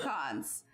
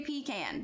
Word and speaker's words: pecan: it's it's they they sell a lot of pecans so i will never say pecan because it's not a bunch of peas in